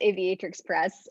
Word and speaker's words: Aviatrix Press: hi yeah um yeah you pronounced that right it's aviatrix press um i'm also i'm